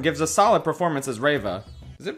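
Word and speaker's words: Reva: should have checked okay i just spent the past five minutes checking if it was riva or rava and how you pronounce it apparently it's riva this character has a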